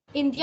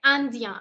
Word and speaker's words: indien: Also, for those who might mispronounce it as India. India nahi hai, Andien. IN is the sound of a.